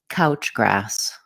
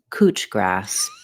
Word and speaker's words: couch grass: this plant is called couch grass couch has vowel ow couch like the couch we sit on in Australia they pronounce this cooch grass instead of a they use oo cooch cooch grass now we've